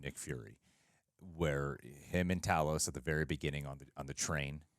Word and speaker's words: Talos: Talos in the movie I thought it was Talos but well Nick Fury says Talos so I suppose I should alter my pronunciations yes Carlos actually Carlos